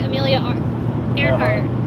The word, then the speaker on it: Amelia: georgia just north of amelia island which is pronounced just like amelia just like you said okay nice i'm